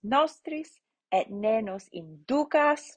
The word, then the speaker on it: inducas: Debitoribus nostris et ne nos inducas, right? The U is long, so the accent goes on the penultimate syllable.